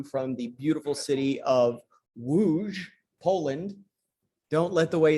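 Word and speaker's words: Łódź: coming to you from the beautiful city of wooj poland don't let the way it's spelled fool you it looks like l o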